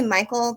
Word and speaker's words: Michel: It's actually Michael, but the way he spells it is spelled Michelle. That's why I say Michelle.